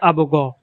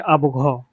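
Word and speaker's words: أبغى: যেমন বিশুদ্ধ আরবি ভাষায় আবু গ আর আঞ্চলিক আরবি ভাষায় আবু ঘ। এখানে বিশুদ্ধ আরবি ভাষায় গয়নকে গ এবং আঞ্চলিক আরবি ভাষায় গয়নকে ঘ এর মতো উচ্চারণ করা হয়েছে।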